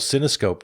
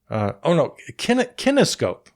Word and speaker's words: Kinescope: Wait, am I getting that name wrong? Kinescope. What did I say? Forget it. Okay, yeah, Kinescope was what I'm trying to say.